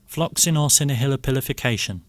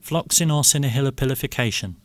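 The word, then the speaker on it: floccinaucinihilipilification: This is how you pronounce it. Floxinorcinahilipilification. Yes. It's what that man said just. One more time. Floxinorcinahilipilification.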